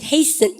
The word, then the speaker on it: hasten: 전쟁이 임박했는 채로 염더 이 국가는 hasten 염더 이거 트 바로 묵음인 거 아시죠? 발음까지 합쳐서 hasten. 그러면 이제 해스튼 그럼 혼나요. T 묵음입니다.